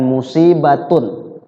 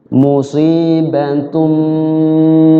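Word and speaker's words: مصيبة: di ba di situ musibatun bukan begitu cara bacanya bukan musibatun ya dibacanya berubah jadi mim musibatum Bima qaddamat musibatum Bim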